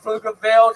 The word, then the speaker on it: Pflugerville: When I say Pflugerville, the P is silent. Thank you.